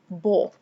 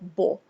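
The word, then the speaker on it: בוא: Aleph is silent, so this would be Bo. The word is read Bo.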